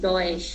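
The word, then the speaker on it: Deutsch: তারপরে যেমন এটা আছে, এটা আছে সজ, ঠিক আছে, কিন্তু এখন দেখেন এটা উচ্চারণটা আসলে কিন্তু ডয়েশ, হ্যাঁ ডয়েশ, কিন্তু এটা হয়ে গেছে কি চ, কারণ ওরা বাংলাটার সাথে ডয়েশের যে মেন উচ্চারণটা সেটার সাথে মিলে না।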